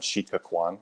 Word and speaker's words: Sitka Kwáan: So as Wendy said, today I'm going to be talking about infectious diseases, race, and settler colonialism on Sitka Kwáan, which is how you say Sitka and Tlingit.